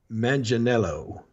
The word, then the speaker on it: Manganiello: King well we're gonna be this weekend Joe Manganiello okay is that how you say it yeah